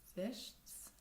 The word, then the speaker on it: wäschst: The A and the du in the AZS form takes an umlaut, which makes the pronunciation different. So, ich wasche, du wäschst, that's a hard one.